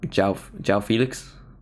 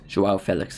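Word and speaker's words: João Félix: in Felix's name pronunciation I used to call him um J J Felix I feel like always said Jo Felix J Felix Jo Felix is how you're supposed to say it anyway halftime um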